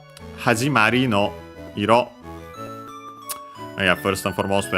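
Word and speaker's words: 色: But yeah, here we see it on its own, and yeah, iro, accent on the last syllable, means color.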